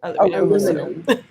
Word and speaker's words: aluminum: And I actually don't know how Americans say aluminum. Oh, you guys don't pronounce the second I.